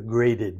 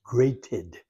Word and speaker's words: grated: we freshly graded it have to think it's grated or graded but it's grated and it's spelled g